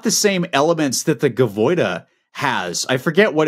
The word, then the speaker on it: Gaviota: We talked about this briefly, but it's got the same elements that the Gavoida has. I forget what it's called. Gaviota. It's like an H. Yeah, sorry, I can't pronounce that.